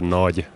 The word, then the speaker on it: Nagy: And I usually don't correct the people, but the correct pronunciation of my name is Nagy. Nagy. Nagy. Yeah, it's pretty hard for you because there's no such pronunciation in your language.